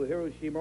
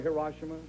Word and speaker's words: Hiroshima: Colonel Farabee, I'm sure a question that you're frequently asked is, did you ever return to Hiroshima or Hiroshima, however you prefer to pronounce it?